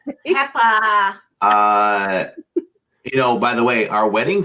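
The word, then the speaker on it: Pepa: Peppa.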